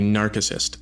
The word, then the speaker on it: narcissist: So, mispronounced. It should be narcissist. The guy who fell in love with his reflection was narcissist. The C is hard in Latin.